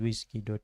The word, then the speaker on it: WSGI: So, if you see wsgi application, it basically points to a file called whiskey. py because that's how it's pronounced, but it's wgi.